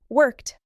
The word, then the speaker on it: worked: Worked. Played. Started. Listen carefully. Worked ends with a soft t.